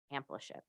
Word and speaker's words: Ampliship: I love love love this concept of amplitude.